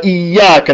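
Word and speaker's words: إياك: Iyyaka na'budu wa iyyaka nasta'in. With the shadda. If you say Iyyaka na'budu wa iyyaka nasta'in with the shadda, you say I worship the sunlight. You have to pronounce the shadda.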